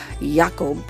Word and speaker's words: Jacob: yeah that Jacob Grim or as it is properly pronounced and specifically mentioned in the book yakob this beauti follows Jeremy